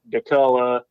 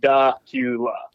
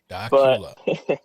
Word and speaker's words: Dacula: A lot of people mispronounce the name of my hometown. I have heard Dacula, Decula, Dracula on the news before, local news.